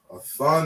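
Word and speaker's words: אתן: We have a thumb and a thun. We have masculine, we have feminine, right? We separate the two. So this word a thumb is how you say you, and it's masculine.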